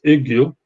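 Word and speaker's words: Yggio: It's extremely difficult, especially for English people to to pronounce it. But it's Ugio, after the tree of life in the Nordic mythology, and that tree of life was called Yggdrasil. So what is the smallest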